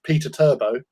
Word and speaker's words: Perturbo: the primark that is known as perturbo or in other circles known as peter turbo um wait say his